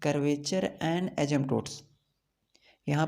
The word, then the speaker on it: asymptotes: यहाँ पे आप लोग देख रहे हैं कर्वेचर एंड एजम्पटोट्स। यहाँ पे पी साइलेंट है, यहाँ पे एजम्पटोट्स नहीं पढ़ना है, यहाँ पे पी साइलेंट रहता है।